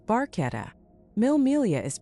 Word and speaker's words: Barchetta: Barchetta is pronounced barchetta.